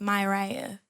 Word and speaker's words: Miriah: My dad spelled it with an I without my mom knowing. And so like his story is that it was always supposed to be pronounced myiah.